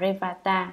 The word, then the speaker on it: Revata: Ngài Li Bà Đa, Ấn Độ đọc là Revata, chữ Hán là Tinh Tú, là bậc không điên đảo rối loạn đệ nhất, tức là ngồi thiền định.